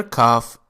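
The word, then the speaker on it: كاف: The letter kaaf is pronounced like K in the word likewise. So, ka, like this.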